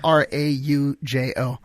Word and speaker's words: Araujo: You have like a 6-letter last name, and it's 4 syllables long. Araujo. It's Araujo.